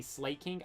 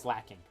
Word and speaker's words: Slaking: I think it's pronounced, I'm pretty sure it's pronounced, I used to always say Slaking. I'm pretty sure it's pronounced slacking.